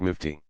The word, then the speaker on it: mufti: capacity the scholar is called a Mufti pronounced nifty one who issues a